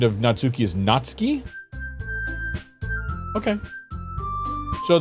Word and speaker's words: Natsuki: pronunciation of natsuki is natski okay so the U was like a silent thing natski just like uh how you pronounce Tokyo is Tokyo natski Tokyo okay okay cool